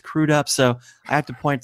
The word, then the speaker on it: Crudup: Jared Leto, as he often says, and it was mispronounced as Billy Crudup when it's Crudup.